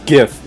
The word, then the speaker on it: GIF: Yeah, there might as well just be a gif of a tumbleweed going across the screen. Or a GIF if you want to be correct. Or a GIF if you want to, mispronounce it.